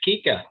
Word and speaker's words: Kika: You are correct. It's Kika.